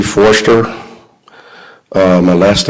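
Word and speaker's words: Forster: officer could you please state your name and spell it for the record yes c foster uh my last name was spelled f-o-r-s-t-e-r officer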